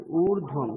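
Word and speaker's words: ऊर्ध्वम्: जिगातु भेषजम् ऊर्ध्वं ঊর্ধ্বম, হ্যাঁ ঊর্ধ্বম নয়, ঊর্ধ্বম, রেফটা বলতে হবে।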